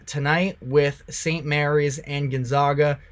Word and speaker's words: Gonzaga: negativity based off of the way that I pronounce their name it's Gonzaga but they should be in